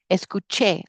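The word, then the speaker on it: escuché: We I went I watched es and it's very important that you stress that last syllable esuche I listened to I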